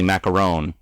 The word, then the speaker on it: macaron: s cookie like Tasha was talking about is pronounced traditionally macaron but I feel like like she did yeah